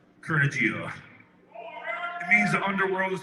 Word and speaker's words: Kurnugia: It's about pronouncing the name right. KURNUGIA. KURNUGIA.